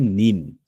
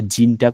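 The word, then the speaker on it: 人: যখন এরকম দুইটা কাঞ্জি ডবল বসেছে, সেক্ষেত্রে আমরা এখানে ব্যবহার করব যে এই কাঞ্জিটার উচ্চারণ হবে যে নিন। নিন বলতে এটা, এই নিন এটা। আচ্ছা, তাহলে জিনটা কখন বসবে?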